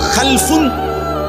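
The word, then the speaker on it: خَلْف: রকম আরবিতে একটা হল খালফুন আরেকটা হল খালাফ একই শব্দ শুধু উচ্চারণের মধ্যে একটু ভিন্নতা মাঝখানে একটা লাম আছে এই লামটার মধ্যে যদি সাকিন হয় তাইলে হল খালফুন আর যদি লামের মধ্যে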